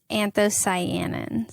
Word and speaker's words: anthocyanins: Is it cyanoids? What is it? It's anthocyanins. Anthocyanins. I mixed different syllables.